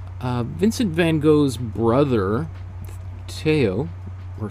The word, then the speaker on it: Theo: vincent van gogh's brother teo or theo or teo is probably closer to the actual original pronunciation um in dutch but